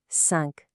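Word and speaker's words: cinq: Take sunk for example. The final Q is almost always pronounced like a hard K.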